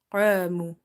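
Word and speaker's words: قاموا: Qamu, alif is heavy because of qaf, as well as we read it by stretching because alif is madda.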